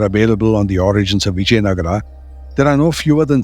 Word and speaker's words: Vijayanagara: the kings of bisnaga bisnaga was the way they pronounced viagara and much of the